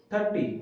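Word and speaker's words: thirty: When as examiner speaks 30, the stress is in the beginning of the word 30. And when examiner speaks about teen means 13, so the stress is on the end of the word, means 13.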